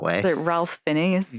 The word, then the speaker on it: Ralph: pulled out and going, neither of those names are spelled that way. And so why do we have to pronounce them that way? Is it Ralph Fiennes?